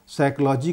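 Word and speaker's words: psychology: जैसे साइकोलॉजी का जो पी है वो साइलेंट हो जाता है, यानी मूक हो जाता है।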